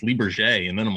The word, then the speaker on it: Lybarger: It was then so one of your friends on Facebook said, "Oh no, it's pronounced Lybarger," and then I'm like, "Oh, I've really screwed that one up."